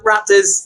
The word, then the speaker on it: RXPTRS: They try to pronounce it correctly, but it's a RXPTRS. Yeah, you got it first time. Raptors.